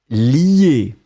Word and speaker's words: lie: Donc on le prononce li, mais on va l'écrire L-I-E.